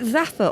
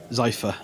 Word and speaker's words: Zypher: Is it Zaffer or Zypher? Zypher. Zypher. Oh, it's just my pronunciation.